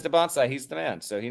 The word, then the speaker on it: Dybantsa: because people were saying Dybantsa before, but if he says Dybantsa, he's the man, so he knows.